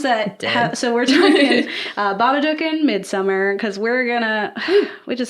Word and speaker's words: Babadook: It's Babadook.